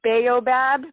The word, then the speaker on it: B'aobab: into a little bit of branding, but it's Baobab, Baobab. I know there's a tree in Madagascar, and they pronounce it Baob.